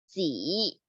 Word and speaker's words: 几: In Chinese, we say as 几. That sounds like G, but a little bit harder at the end.